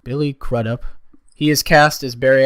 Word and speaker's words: Billy Crudup: Billy Crudup, I think is how you pronounce it. Billy Crudup.